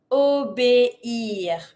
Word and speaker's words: obéir: Obéir. Obéir. Really dissociate the E with the high accent and the I R. Obéir. And then you say obéir.